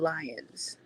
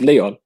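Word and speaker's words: Lyon: Yeah, that he's gonna stay with Lions. Oh, is it with Leon? Leon Lions. You know what? I'm playing the American card, okay? Leon Lions. It's spelled Lions.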